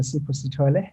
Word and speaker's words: Sipho Sithole: Yes, it is Dr. Sipho Sithole.